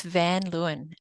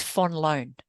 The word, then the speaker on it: Van Luyn: where you are it's van Luen um if you pronounce it like a Dutch person though as my dad would because he hates the you know English pronunciation it's Fon loan fun loan okay yeah yeah there